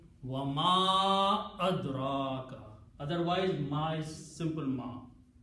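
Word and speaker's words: وَمَا أَدْرَاكَ: So this little Hamza will force the Ma to be pronounced with a Mad. Wa Ma Adraka.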